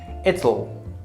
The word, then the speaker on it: it'll: pronunciation heal she okay it will ital it sounds a lot like Italy okay so it's not so